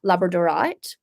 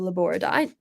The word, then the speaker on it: labradorite: And so I couldn't work with it until one day I came across a singular piece of labradorite or laboradite, however you prefer to pronounce it, that just sang like so loudly in my psychic ears.